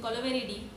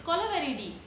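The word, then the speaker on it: Kolaveri Di: We don't interrupt your flow when you're singing Kolaveridi. It's not Kolaveri, it's Kolaveridi.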